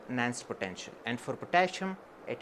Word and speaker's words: Nernst: We used to pronounce it like Nernst potential, but since it is a German word, the correct pronunciation is perhaps Nernst potential.